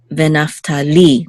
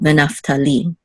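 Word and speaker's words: נַפְתָּלִי: So the accent is on Naphtali, the last syllable, Naphtali.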